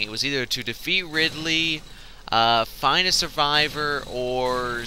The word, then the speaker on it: Ridley: did a number on Ridley which by the way that's not how I pronounced its name when I was a kid I'd always call it Riley like my next door neighbor it's really weird I